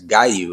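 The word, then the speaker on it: Giyu: We get to see the water Hashira, Genya, I think, no, that's Gayu is how we say his name.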